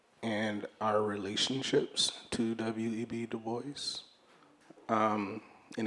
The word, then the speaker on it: Du Bois: our relationships to web Duboce. Um, and it is Dubo, not Dubois.